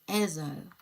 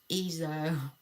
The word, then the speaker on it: Ezo: Also, floor tiles says that um the character's name is pronounced Ezo. You know what? That sounds a lot better than whatever the heck it was I said. Um I said eo, but Ezo sounds a lot better.